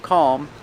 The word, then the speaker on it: calm: never touches the roof so you don't hear an L you hear um almond and calm and palm like this palm tree